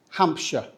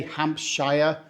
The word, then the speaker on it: Hampshire: This one is pronounced Hampshire. We don't say Hampshire or Hampshire. Just pretend the shire isn't fancy in most English words. We don't say shire, most, not all. We say shwa.